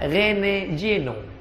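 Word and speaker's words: René Guénon: u e n o Rene juenon cara membacanya Rene Jeno tapi setelah dia masuk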